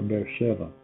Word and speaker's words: Beersheba: Or Beersheba. That is the correct pronunciation.